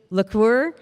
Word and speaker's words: LaCour: Leslie LaCour, Central Minnesota Arts Board. She just told me, she's like, remember it rhymes with liqueur.